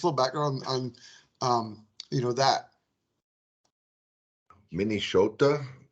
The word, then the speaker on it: Minnesota: Minnesota is how we pronounced it. The S is like a SH.